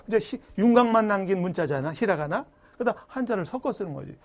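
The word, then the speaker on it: ひらがな: 어떤 사람 인터넷 보면 히라가라, 가타가라 이제 엉터리로 발음하는 사람도 있는데 얘는 여기 타금이라고 해서 점이 있지. 얘는 죽어도 까라고 발음 못해. 히라가나라고 해야 돼. 근데 얘는 여기 타금이 없으니까 뒤에 올 때는 까나라고 그래. 뒤에서 공부합니다. 가타까나야. 얘는 가타까나고 얘는 히라가나야. 히라까나 하면 안 돼. 히라까나는 없어. 히라가나, 가타까나.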